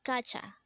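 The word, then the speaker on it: 가자: cry next word is kacha again this is pronounced as gotcha and this is used to say let's go in an informal manner again kacha means let's go next word is kapshida again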